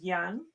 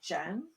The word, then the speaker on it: Jan: french language so yeah jan for a man is young instead of jen yeah it's pronounced different yeah right yeah we